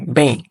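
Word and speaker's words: bem: যেই এম টা আছে এটা উচ্চারণটা জোরে হবে না এটার উচ্চারণটা এই ই এর সাথে ব্লেন্ড হয়ে যাবে যার কারণে এটার উচ্চারণটা আসবে অনেকটা এরকম পেইন পেইন রসই এর মত বাংলা বয়কার রসই বেইং তো কোমস্তার ক্ষেত্রে আসলে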